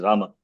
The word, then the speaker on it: Rama: Like Hindi, we cannot cut the last vowel. It's not Ram. It is Rama.